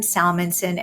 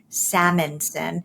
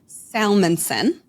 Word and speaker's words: Salmansohn: um and but then my name is Salmanson. Everybody mangles it and says salmonson.